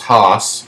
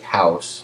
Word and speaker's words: Haus: stuff about it um instead of you know it looks like house like I guess the German I don't speak German